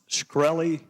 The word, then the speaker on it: Shkreli: Is it pronounced Shkreli?